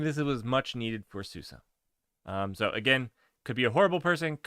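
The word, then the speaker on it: SUSE: first day at Susa it is pronounced Susa for all of you scrubs who call it Susie or Zeus it's Susa just so you know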